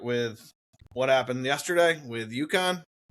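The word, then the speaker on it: UConn: You want to start with what happened yesterday with Yukon? Yukon.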